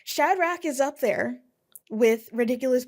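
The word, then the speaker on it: Shadrack: Shadrach.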